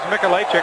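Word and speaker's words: Mikolajczyk: It is Michalacek. The spelling, though, is M-I-K-O-L-A-J-C-Z-Y-K. Spell it 17-7.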